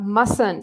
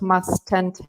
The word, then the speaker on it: mustn't: instead is a prohibition notice that the first T here is silent so it's not mustn´t but it's mustn't and